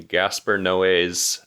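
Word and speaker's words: Gaspar Noé: going to be watching Gasper no's I think that's how you pronounce his name you're correct Max oh good cuz I need to be forced to watch a Gasper Noe movie that's the only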